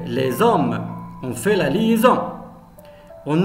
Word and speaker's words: les hommes: Mais lorsqu'on dit les hommes, on fait la liaison. Les hommes. Parce qu'il y a ici S entre deux voyelles, se prononce Z.